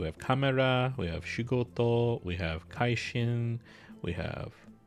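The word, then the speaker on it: しごと: The pronunciation is shigoto.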